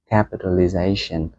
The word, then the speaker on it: capitalization: market rất là dễ còn từ capitalization thì có hai trọng âm trọng âm chính rơi vào J và chọ cụ rơi vào cap capitalization Market capitalization có nghĩa